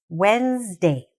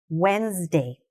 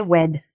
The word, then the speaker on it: Wednesday: I know there's a "d" there, and it sounds like it's really long, but it's "Wens-day". Say it after me. "Wens-day". Okay? Don't say "wed".